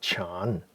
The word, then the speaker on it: Chan: they no but but the Zen is actually the Japanese pronunciation of a Chinese word called Chan CA n which is